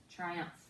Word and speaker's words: triumph: tri and then up let's look at our first syllable we have the blend here the tea and art is a blend and then we have the I says I so this is an open syllable our second syllable we have a short u sound and then we also notice we have our new digraph pH which makes the F sound so we want